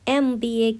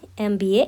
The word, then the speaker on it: MBA: MBA का जो M है ये एक कॉन्सोनेंट लेटर है, लेकिन प्रोनाउंसिएशन MBA का कुछ इस तरह है, MBA। दैट मीन्स M का जो इनिशियल साउंड है वो एक वॉवल साउंड है, तो इसके आगे